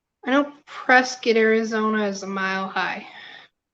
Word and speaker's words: Prescott: It's Prescott. Rhymes with biscuit if you're native.